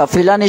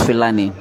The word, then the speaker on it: Philani: Philani should play calm.